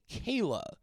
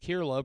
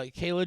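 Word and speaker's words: Kier-La: women by uh I found out that you pronounce uh her name Kayla uh her name is pron it's spelled k i e r-la a I always thought it was just kirla pronouncing it phonetically but no apparently it's Kayla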